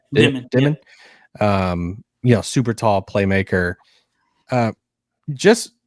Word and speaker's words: Demin: How do you pronounce his last name? Is it Demine? Demine.